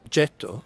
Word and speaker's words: Getto: The island was called Getto, from the word gettare, throw away in Italian. And when the Germans arrived here in 1528, because they couldn't pronounce the soft G of Getto, they called it Ghetto.